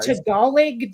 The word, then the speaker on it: Tagalog: we've talked about um Tagalog looks like Tagalog when it's spelled and let's face it Tagalog does not sound like